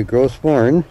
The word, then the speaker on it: Gros: Not hard to see why Gross, that's the way they pronounce it, is a world heritage site.